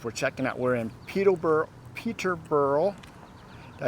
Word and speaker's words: Peterborough: We're in Peterborough.